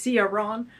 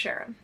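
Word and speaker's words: CYaRon: I always say Ron, but I saw someone say it's pronounced Sharon.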